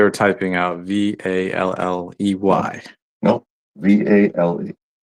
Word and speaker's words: Vale: No, VALE. Vale, I guess you can pronounce it that way. Yep. Pronounce it as Vale.